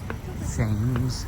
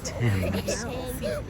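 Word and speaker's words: Thames: ever seen cute little main street drag here themes Street which we learned is pronounced th not Tims I do I smell just ocean there's those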